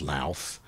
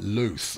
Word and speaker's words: Louth: Now, it's not pronounced Louth. It's like Luth or Luth or something along those lines.